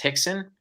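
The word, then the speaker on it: Rickson: Gracie his name is spelled rickon but it's pronounced Hixon he is probably the greatest Jiu-Jitsu practitioner in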